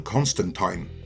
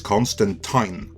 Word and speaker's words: Constantine: John Constantine, and yes, that is Constantine, I'm not saying it wrong, first officially appeared on the scene in 1985 in Alan Moore's seminal run on Swamp Thing.